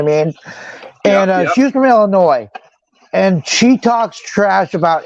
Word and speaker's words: Illinois: think some people pronounce the S and other people don't. I think it's technically Illinois. Like annoy you. Like Illinois annoys you.